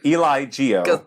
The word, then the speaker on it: Eligio: oh I don't know eligio um Bishop it's like Eli Geo as one word cuz there's so many